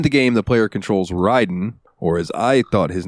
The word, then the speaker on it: Raiden: In the Sega Genesis version of Mortal Kombat, they spelled it Raiden like R-A-Y-Den in a couple of the games to help with the pronunciation.